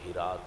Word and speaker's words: ہرات: میں ایک شہر ہے ہرات، ہرات بھی اس میں بولتے ہیں لیکن صحیح تلفظ ہرات ہے۔ اتھے ایک بادشاہ گزرے